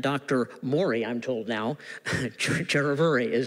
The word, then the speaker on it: Chiravuri: Murali, I'm told now, Chiravuri is how you're pronouncing it.